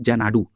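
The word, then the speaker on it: Xanadu: इसके निवेश के साथ टोरंटो स्थित कनाडा की क्वांटम कंप्यूटिंग एजेंसी, जिसका नाम क्या है, देखिए इसका प्रोनाउंसिएशन होता है जनाडू, ठीक है, जनाडू क्वांटम टेक्नोलॉजी के द्वारा इस क्वांटम कंप्यूटर को विकसित किया जाएगा।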